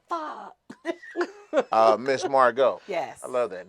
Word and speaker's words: Margeaux: EAUX is O. Margeaux. Margeaux.